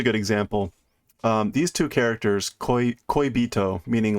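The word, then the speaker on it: 恋人: So both of those characters have multiple different pronunciations, but when they're in this combination, in this order, it's almost always koibito.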